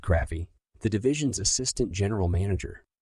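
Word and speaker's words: Krafve: under the direction of Richard Craft, pronounced Craffy, the division's assistant general manager.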